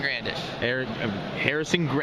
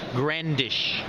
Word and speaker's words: Grandish: Hey YouTube, Matt is Daddy 12 here, still at Nats, and we are with Grandish. I can never pronounce it. Grandish. Grandish. Kind of grand, but not really.